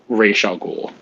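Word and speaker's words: Ra's al Ghul: that one it's definitely racial ghoul is the correct pronunciation because it's not a name it's an arabic word so i don't remember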